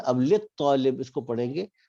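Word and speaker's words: لِلطَّالِبِ: अब लित तालिब इसको पढ़ेंगे, लाम को तो के साथ मिलाएंगे, यहाँ पे अलिफ साइलेंट हो जाएगा, तो लित जी तालिबी।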